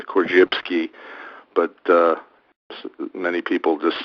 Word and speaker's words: Korzybski: YB s k i i give it the Polish pronunciation kbski but uh many people just say corsky and uh he was